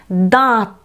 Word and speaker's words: দাঁত: দাঁত, দাঁত। দয়ের যখন আমরা উচ্চারণ করব তখন আমরা একটু নাকি সুরে, অর্থাৎ বাতাসটা একটু নাকের মধ্যে দিয়েও বের করে উচ্চারণটা করব।